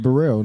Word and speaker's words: Bereal: like really really and it's pronounced Burrell like Kim Burrell MC Hammer's last name